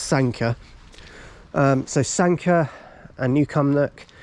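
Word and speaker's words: Sanquhar: now and when Sanka which is pronounced Sanka by the way not sanua it pronounced Sanka um so Sanka and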